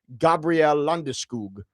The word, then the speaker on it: Landeskog: I heard him pronounce his name the Swedish way, Gabriel Landeskog.